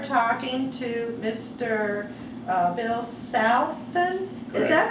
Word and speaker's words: Salfen: and joe turner and i are talking to mr uh bill southen is that how you pronounce your name correct can you spell it